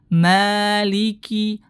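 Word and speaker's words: مَالِكِ: riwayat Hafiz anasim jadi maanya dibaca Dua harakat Maliki Maliki Maliki dua harakat ya karena dia berstatus apa tadi m thii jangan dipendekkan kemudian merubah huruf Kaf menjadi Kaf berarti tebal seharusnya dibaca tipis Maliki Maliki dia baca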